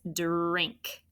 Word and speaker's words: drink: And be careful with that dur. J. It sounds like j when we say it, doesn't it? But it's drink, right?